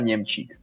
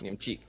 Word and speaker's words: Niemczyk: Yeah, it's Niemczyk. Niemczyk. Okay. Yes. Niemczyk. Gotcha. Okay, so it's that last syllable that caught me off guard.